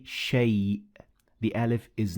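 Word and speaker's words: شيء: Now, as you can see, the alif in shay, it is written, but it is not pronounced. So we say shay.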